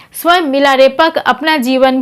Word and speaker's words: मिलारेपा: धोखा और प्रतिशोध से मिलरेपा शब्द का उच्चारण तिब्बती भाषा में मिला रसपा भी होता है मिला उनका कुल नाम